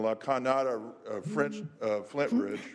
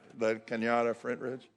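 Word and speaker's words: La Cañada Flintridge: In the fall of this year, the Senate Human Services Committee, with my colleague from La Cañada, Flint Ridge, right? Did I say it right? La Cañada, Flint Ridge?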